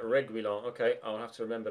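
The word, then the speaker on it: Reguilón: Reguilon, apparently, is how Derek Rowe pronounced that. Reguilon.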